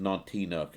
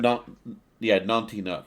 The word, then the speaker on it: Nantinuk: Which is pronounced Nantinuk apparently. So we had it wrong. Nantinuk.